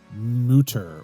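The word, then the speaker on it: Mütter: Philly voice article uh the word has an umlaut over the U which means I believe the term is supposed to be pronounced motor or muter something to that effect however we are from Philadelphia and we say things the way we want so it's mutter yeah because we don't we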